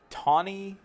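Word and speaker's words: Tahnee: But her real name is actually Tawny McClure. But she changed it to, it's spelled T-A-N-E. She changed it to T-H-N-I so that everyone would pronounce it Tawny when she married this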